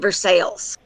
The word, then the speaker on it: Versailles: There's a town in Kentucky, southern Kentucky, that is spelled exactly like the palace in France, where, Precise. where yeah, they call it Versailles. Yeah, because they're American.